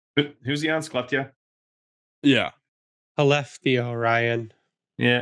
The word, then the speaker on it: Skellefteå: Skellefteå, Ryan. Yeah, you don't pronounce the S.